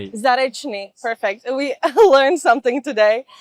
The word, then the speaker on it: Zarechnyi: in Barcelona and today we're joined by Ehor Zarney. Do do I am I pronouncing that correctly? Zaresi. Zarni.